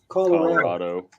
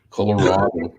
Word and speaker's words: Colorado: where are you Mike Colorado oh notice he's the only one that pronounces that right Colorado anyway I uh I've